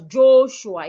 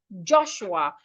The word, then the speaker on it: Joshua: Joshua, I hope you do not pronounce your name as Joshua. It's Joshua. The letter O in your name sounds as in orange.